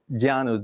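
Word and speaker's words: Llanos: to start well uh the gianos is the giannis that this is the the pronunciation iannos means the planes so the planes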